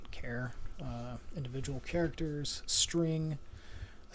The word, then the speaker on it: char: point numbers um okay care or some i've heard this pronounced char before but care uh individual characters string